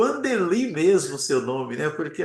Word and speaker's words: Wandeli: É o Andeli mesmo seu nome, né?